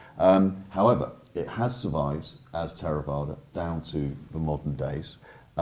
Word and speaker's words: Theravada: In Pali, I pronounce it Theravada. Theravada is perfectly acceptable as well.